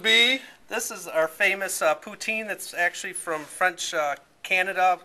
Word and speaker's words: poutine: And it's pronounced what? Poutine.